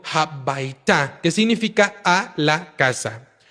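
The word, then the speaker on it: הביתה: que es casa, y cuando se le une el hey al final, toma la pronunciación de ta, que significa entonces a la casa. En este caso, el hey al final de la bait indica el movimiento hacia la casa y correctamente deberíamos de pronunciarlo como habaita, que significa a la casa.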